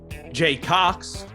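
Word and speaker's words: Cocks: credit in this movie Jay Cox Jeff weiner Jared penis Jerry tallywacker the wiener one now Cox it's Jaycox nice nice and it's spelled c-o-c-k-a-s which makes it even better really yeah all right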